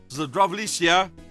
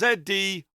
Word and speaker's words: Zdravljica: After Slovenia gained its independence, his poem Zdravljica, I'm going to spell that in case I've mispronounced it and offended anybody, that's Zdravljica.